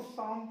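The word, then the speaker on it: psalm: पढ़ेंगे पाम, शाम, इसको शाम पढ़ेंगे। यहाँ पी भी साइलेंट होता है, आगे सिखाऊंगा क्यों होता है।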